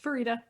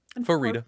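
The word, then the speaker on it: Farideh: So it's Farida. Farida. Fairy. Farida. Slightly nasal A.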